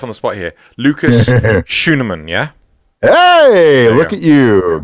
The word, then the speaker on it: Schuneman: Lucas Schuneman, yeah? Hey, look at you. Getting the German pronunciation right and everything there. Yes. My name is Lucas Schuneman.